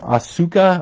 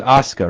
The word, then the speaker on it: Asuka: think her name is is this um Asuka or Oscar her name's Oscar right as I say it they call her oscar but it's spelled like a-s-u-k-a this came from Richie